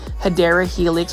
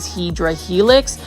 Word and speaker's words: Hedera helix: for the first time I purposely mispronounce hadera helix or English IV hedra Helix um it is a